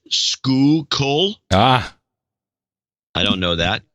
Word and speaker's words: Schuylkill: she says pronunciation guide Schuylkill is school coal ah I don't know